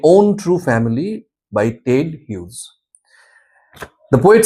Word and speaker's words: Hughes: My own true family written by Ted Hughes. Okay. Uh the pronunciation is not Hodgees, it's Hughes.